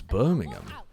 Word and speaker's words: Birmingham: ever heard Americans pronounce Birmingham no I assume they say birming ham I assume they put the emphasis on the ham because there's a bunch